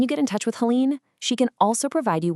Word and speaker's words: Helene: You'll want to contact Helene Matthews, and that's Helene pronounced Helene.